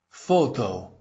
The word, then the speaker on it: Фото: Photo. You'll notice that both the O's come out as O, which breaks that rule in Russian, but it's an imported word, and imported words often break that rule.